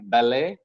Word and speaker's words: ballet: There are some French words again that have come into English, like ballet, buffet, gourmet. The T goes silent in these words.